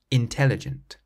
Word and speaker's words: intelligent: For example, if you say the word intelligent out loud, you'll notice that you stress the tel part in the middle, intelligent.